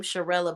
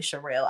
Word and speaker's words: Charelle: her thing her yeah they um say her name charella but her name is really Charelle I don't know why